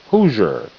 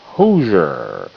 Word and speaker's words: Hoosier: Hoosier. Huh. Ooh. Who. Z. Zer. Who. Zer. Hoosier.